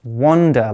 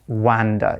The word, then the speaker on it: wander: And remember, it's pronounced wander, like with an O, not wander, even though it's written with an A.